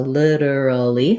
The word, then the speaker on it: literally: of course literally um it has the flap t and first syllable stress so literally literally four syllables um i do have